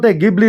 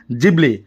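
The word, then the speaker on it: Ghibli: এই গিবলি গিবলি knee আসলে গিবলি ন হয় জাপানিজ প্রোনাউন্সিয়েশন জিবলি জাপান এটা এনিমেশন স্টুডিও আছে স্টুডিও এটা আছে এনিমেশন স্টুডিও জিতুর নাম হইছে জিবলি এনিমেশন সিনেমা ব্লাক বনুয়া হয় গ্রেটেস্ট জাপানিজ এনিমেটর হায়াও মিয়া জাকিয়ে বহুত এনিমেশন সিনেমা তাতে বনা বানাইছিল আরো গুটেই বিশ্ব বিখ্যাত হয়ে পড়ছিল সিনেমা বিলাক আরো বহু বহু টোকা উপার্জন করেছিল আসলে এই গিবলি গিবলি যদিও জাপানিজ প্রোনাউন্সিয়েশন জিবলি হয় আসলে এটু আছিল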